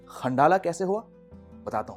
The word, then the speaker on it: Khandallah: दूर है bye metro और इसका नाम है खंडाला स्पेलिंग है कि एक है NDA लेज मगर उसकी